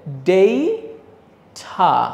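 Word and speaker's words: data: ডাটা শাক দেন একটা সো এটা আসলে ডাটা না কিন্তু এইটা হচ্ছে অনেক সুন্দর একটা উচ্চারণ এটা আমার কাছে খুবই ভালো লাগে সেটা হচ্ছে ডেইঠা এটার উচ্চারণ হচ্ছে ডেইঠা ডেইঠা আবার আমেরিকানরা ঠ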